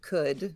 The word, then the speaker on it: could: there also you've got the silent l in should would could right we believe that